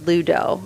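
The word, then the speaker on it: 7UDO: the beginning, and he's his name is spelled 7 UDO, so like the 7's like an upside down L, so it's Ludo, I'm pretty sure.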